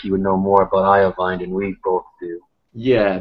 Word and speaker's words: Iovine: I'm actually still not sure how to pronounce that. It's an Italian last name, so it's Jimmy Iovine.